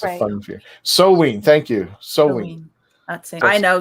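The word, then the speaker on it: Samhain: Soween. Thank you. Soween. I know Sam Hain.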